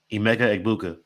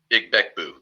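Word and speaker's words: Emeka Egbuka: Specifically, my first prop, Emega Ibuka. That's how you say his name, guys. I don't know how the Gron was saying. Beckbu.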